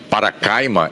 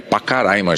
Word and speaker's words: Pacaraima: Eu disse agora há pouco, referindo-me a uma cidade de Roraima, na fronteira com a Venezuela, como Paracaima, é Pacaraima, gente. Estou trocando as sílabas aqui.